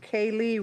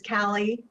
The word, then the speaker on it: Callie: as a proponent is Kaylee did I pronounce that right Cali Madam chair oh coming in Virtual it yes um my name is Callie okay